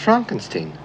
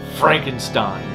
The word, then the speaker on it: Frankenstein: It's pronounced Frankenstein. Perhaps, however, I'm an American heathen, therefore, it's pronounced Frankenstein.